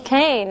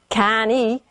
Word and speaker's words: cane: We don't pronounce the E, right? We don't say can-E, right? We say cane.